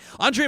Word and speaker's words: Andre: my age Ryan so Andre the Giant is usually what I tell people to go by well hey you are